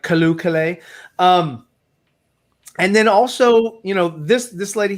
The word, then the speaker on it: Calle: I believe it's pronounced Calle. Calle. Like Calle.